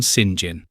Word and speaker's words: St. John: This brings us to the city of Tank, which is pronounced Tonk for the same reason apparently that the English call halfpenny Ha'penny and St. John Sinjin.